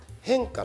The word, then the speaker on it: 変化: タイトルはですね変化っていうありますよね変化変化の人って書いて宗教語で言うと変化のことを変って読むらしくてえ変の人